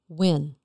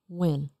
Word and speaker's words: Nguyen: How do you pronounce your last name? Nguyen. Nguyen.